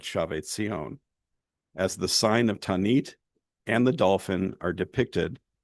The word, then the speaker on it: Tanit: The goddess Tanit, likely pronounced Tinit or Tinit, something like that in antiquity, was the